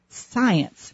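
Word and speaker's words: Psience: Jones, who has written an extraordinary book called Science, but it's spelled differently. It's spelled capital P-S-I-E-N-C-E. Science.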